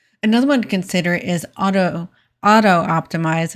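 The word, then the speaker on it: Autoptimize: Another one to consider is auto optimize. It's kind of hard to say. There's only one O in there, so it's hard to say auto optimize, I guess would be the way you pronounce it.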